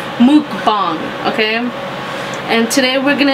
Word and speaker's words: mukbang: I switched it up and it's supposed to be pronounced mukbang, okay?